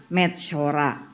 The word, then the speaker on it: Metzora: Mem, sadi, vav, resh, dan ayin. Dibaca Metzora. Metzora. Kok jadi Metzora? Enggak, Metzora bacanya ya.